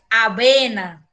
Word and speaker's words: avena: No caso de aveia, você vê que tem o aveia, aveia, que vocês pronunciam o V diferente, e nós, no espanhol, pronunciamos esse V de avena igual que o V de bola. Avena, tá?